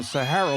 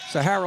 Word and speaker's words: Sahara: was telling me pronunciation they go Sahara like the desert I go no Sahara like the hotel we are so jaded